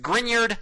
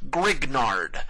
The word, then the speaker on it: Grignard: And yes, that is pronounced Grineyard, not Grignard.